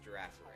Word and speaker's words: Girafarig: Like, how do you pronounce that final G? It's like is it a soft or is it a hard G? So it's supposed to be a palindrome, right? So it's supposed to be the same forward and backwards. But yeah, the and correct it's like answer is Girafarig. Giraffe. So you gotta pronounce the final G as a J? Almost like a J.